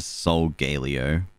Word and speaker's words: Solgaleo: um oh no uh so i think it's sogalia right because like yeah but i it's just galio isn't it yeah solgaleo or i hit soul galeo i saw someone like do a pronunciation breakdown of how they said pokemon names and that's how they uh pronounce the soul galeo um another one is